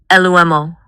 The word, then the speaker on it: Lumo: What about lumo? Lumo. It sounds like light or lumen. It's two syllables.